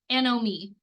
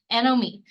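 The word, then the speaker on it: anomie: a breakdown of these social bonds and values anom me you know it's kind of a weird word it's spelled a n o m i e Nom me um so he argued that you know Society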